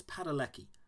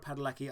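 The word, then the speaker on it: Padalecki: I think it's Padeleki. I want to say Jared Padeleki.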